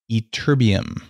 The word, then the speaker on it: ytterbium: from single ions of, this is a word, ytterbium, which never sounds right when I say it, but I know I said it right because I actually did study physics and chemistry in college.